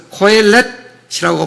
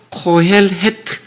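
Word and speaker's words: קהלת: 코헬레트. 그래서 코엘렛이라고 발음하기도 하고 코헬트 정확히 발음하기도 합니다.이 말은 칼 모이다, 소집하다라는 거예요.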